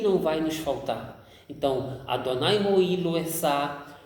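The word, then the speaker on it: אֲדֹנָי רֹעִי לֹא אֶחְסָר: Então a pronúncia correta no hebraico que não existe a palavra nada, é Adonai Roi Lo Esá. Adonai Roi Lo Esá.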